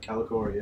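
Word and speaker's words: Kalikori: On Kanan's way to save Hera, he sees her Calicori. Is that how you say it? Yep, Calicori, yep.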